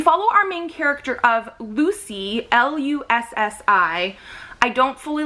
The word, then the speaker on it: Lussi: We follow our main character of Lucy, L-U-S-S-I. I don't fully like spellings like that in books because I always try to read them weird ways, but it is pronounced Lucy in here.